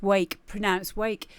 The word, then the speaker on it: WVKE: Based out of Portland, or WVKE, pronounced Wake, is a producer with experience spanning over 10 years.